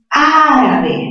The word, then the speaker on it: árabe: Siguiente, árabe, mayor fuerza ¿dónde? En A.